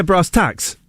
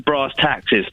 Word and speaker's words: brass tacks: let's get down to brass taxes. And secretly, people have been sniggering up their sleeves at me, haven't they? See, even if you said brass tacks, T-A-X, that works. It sounds like tacts.